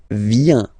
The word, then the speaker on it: vient: Il, elle, vient. Final T not pronounced. Il vient, elle vient.